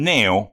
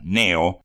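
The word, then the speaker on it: Cneo: junto a un tal Neo Cornelio blacio recuerden por favor ese nombre raro Neo que se escribe c n e o pero que esa letra c al comienzo no se lee Entonces si tenemos dos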